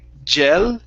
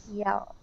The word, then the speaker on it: yell: first up we have the word yel instead of saying jel it's e pronounce an e sound eel yel yel good all right now what